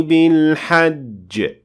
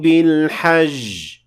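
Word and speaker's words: حج: And one of the words that are very often mispronounced is the word hajj, and it is mispronounced as hajj, and that is not correct. وَأَذِّن فِي النَّاسِ بِالْحَجِّ, not وَأَذِّن فِي النَّاسِ بِالْحَجِّ.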